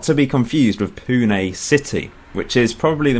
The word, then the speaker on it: Pune: So in episode 2 I found my first club, Pune FC. It's not Pune, it doesn't rhyme with prune unfortunately, but thanks for those of you that did correct me. It is Pune, one of the biggest cities in India.